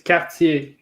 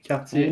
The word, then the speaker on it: Cartier: and you roll the R, but it's like at the back.